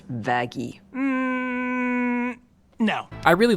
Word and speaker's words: Vaggie: I named you after the best thing ever vagi actually it's pronounced vaggy no I really like this twist because all